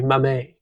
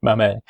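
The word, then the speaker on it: Mamet: but apparently the theater guys call him Devi Mame. Yeah, David Mamemoth. Oh, David Mame.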